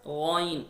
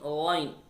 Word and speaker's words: غ: And there is a ghain. وَمِن شَرِّ غَاسِقٍ ghain. Ghain also throttle letter. We pronounced from closest part of throat near the mouth.